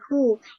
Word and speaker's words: who: Siapa h siapa Oke hu ini cara bacanya Enak kok guys cara bacanya tuh w-nya enggak usah dibaca jadinya gimana miss h